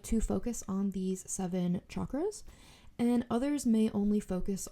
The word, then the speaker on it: chakras: Sanskrit they are called chakras um it is pronounced with a CH and not a sh you might hear people say chakras um I guess it's